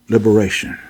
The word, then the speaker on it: liberation: And you tell her, you walk her through liberation. L-I-B, lib. E-R, the letter A. And then you tell her, wherever you see T-I-O-N, it's shun. That's how you pronounce it, shun.